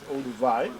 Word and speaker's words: Olduvai: Pronounced as Olduvai.